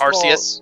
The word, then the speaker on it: Arceus: Well, in the translation of the Arceus movie into English, first Arceus? Of all, they call him Arceus. Yes, second of all, that is the correct way to pronounce it.